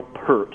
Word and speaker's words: Peart: Peart's like ear. The ear.